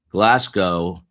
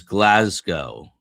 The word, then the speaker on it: Glasgow: Glasgow is Glasgow. Glasgow with a Z.